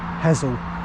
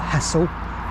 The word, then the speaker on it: Hessle: That's actually how you say it, apparently. Hezel, not Hessle. Too much emphasis on the S. Which one though? Both or just one S. Anyway, it's Hezel.